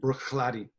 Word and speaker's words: Bruichladdich: pronunciation of scotch whiskies the CH is often like a cave but it's like Bruichladdich who's that blend stalkers stalkers